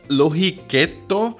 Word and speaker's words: lohikeitto: and this soup okay i'm gonna try to pronounce it lohi ketto is probably one of the tastiest and easiest